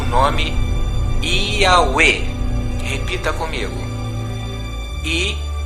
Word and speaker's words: Yahweh: como pronúncia o nome Yahweh. Repita comigo. I-A-U-E. A pronúncia dos hebreus é Yahweh. Lembre-se, esta pronúncia não é de portugueses e nem de americanos, nem gregos, e sim de origem hebraica.